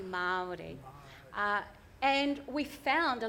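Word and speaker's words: Māori: the mai Renaissance and I say m I think you guys say Mari or something like that it's actually pronounced properly Mari uh and we found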